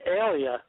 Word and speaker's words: Aaliyah: Well, it's actually Alia. That's how they say it.